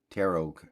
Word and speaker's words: tarot: of resale value here tarot tarot card yeah so let's open her up the second T is silent mm-hmm okay so it's